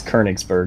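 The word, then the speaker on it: Königsberg: So, or I guess Konigsberg would be the more correct pronunciation.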